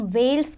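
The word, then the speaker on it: veld: देखो जो temperate grassland south Africa में है उसे हम वेल्स कहते हैं. स्पेलिंग आपको दो तरीके की दी है, टी भी लगाते हैं कई बार हम, बट टी साइलेंट है आपका.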